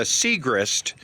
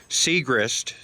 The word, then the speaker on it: Siegrist: can help you uh it's a siegrist siegrist that's how brent's name is pronounced brent siegrist and